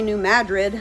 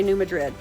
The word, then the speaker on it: New Madrid: then hopefully paddle into some locals say New Madrid, some say New Madrid.